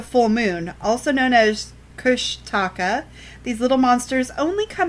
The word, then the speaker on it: Kushtaka: It's Kushtaka, not tacos.